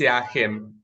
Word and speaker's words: Jachym: Am I pronouncing it right, Jachym? Yeah, it's Jachym.